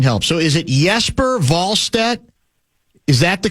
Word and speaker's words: Jesper Wallstedt: I believe if you are using the correct Swedish pronunciation, it would be Wallstedt.